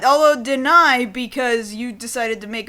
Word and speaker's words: Denai: no probably not although deny because you decided to make a bunch of jokes about her name d-e-n-a-i pronounced as such deny deny yeah sure I'll